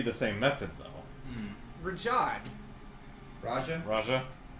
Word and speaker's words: Raja: Like the tiger from Aladdin. Raja. Rahad was the other one, right? That we were- Rahad was the other one with the goatee. Yeah, Raja.